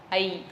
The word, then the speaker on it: ஐ: இப்ப பாத்தீங்கன்னா, ஐ எழுத்தை உச்சரிச்சு பாருங்க, பின்னாக்கு கடிக்கும். ஐ ஐ அது நீண்ட எழுத்து. ஐ இல்லை, ஐ ஐ அது நீண்ட ஓசையுடைய எழுத்து. அதனால அது சொல்லும் பொழுது பின்னாக்கு கடிக்கும்.